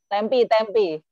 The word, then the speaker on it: Tempe: Tempe. Tempe, Tulisannya oke. tempe teman-teman, tapi bacanya tempe ya.